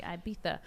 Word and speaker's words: Ibiza: break destinations cancun maybe ibiza i know i'm saying it wrong it's supposed to be ibiza but uh maybe people